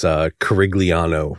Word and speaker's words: Curigliano: referring to you as Curigliano, right? So there we go. Listen, if they can say Curigliano, because that's how it's spelled.